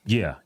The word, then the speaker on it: Ye: one thing that really triggers a lot of people when you mispronounce their name. Yeah.